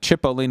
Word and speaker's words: Cipollini: parentheses, like, you know, like Cipollini would be like CHIP-O-LEANIE. That's phonetically like how it sounds.